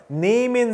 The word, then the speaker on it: nehmen: 여기서 nehmen, 자, 모음 다음에 하가 붙어 있으면 모음을 길게 발음한다 그랬죠? nehmen, 그쵸? nehmen, 여기서 에 다음에 하가 있기 때문에 모음을 길게 발음했습니다.